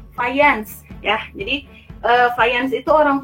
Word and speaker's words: Fajans: Fajans ya. Jadi Fajans itu orang Polandia. Nah, kalau di Polandia dibacanya itu bukan Fajans ya, tapi Fajans ya.